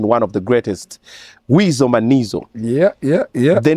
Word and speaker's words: Manizo: Monday okay then the Mano goes with the rhyme Mano with rhyme it rhymes with it a man like she's a man yeah I'm called